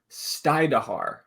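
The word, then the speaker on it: Stajduhar: Mason Stajduer is how you say that.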